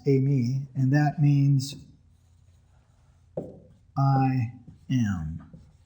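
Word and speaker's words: εἰμί: Okay, that's how it's pronounced, Amy.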